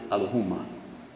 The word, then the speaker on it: Elohim: they say that but yet Elohim is what we say only we pronounce it Aluma oops it's again the